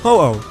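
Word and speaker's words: Ho-Oh: Wales could have been involved too and finally hoo gets its name and origin from the Japanese Phoenix fun in Japan this bird is pronounced hoo another interesting fact about hoo's name is that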